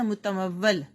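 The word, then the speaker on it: مُتَمَوِّل: رے کے اوپر جزم۔ اگلا ہے متمول، میم کے اوپر پیش، تے کے اوپر زبر، میم کے اوپر زبر اور واو کے اوپر زبر بھی اور تشدید بھی، شد بھی، لام ساکن۔ اگلا لفظ ہے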